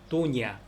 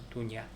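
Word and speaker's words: doña: 도냐. 그래서 세뇨르, 세뇨라, 세뇨리타, 도냐 할 때 n에 앞에 위에 물결이 있어요. 그래서 세뇨르, 세뇨라, 세뇨리타, 도냐 뭐 이런 식으로 발음을 한다.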